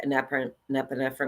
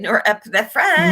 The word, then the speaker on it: norepinephrine: um the catacomines which is dopamine, adrenaline or nepinephrine. I can always not pronounce that very good. Yeah. How do you how do you say it? Norepinephrine.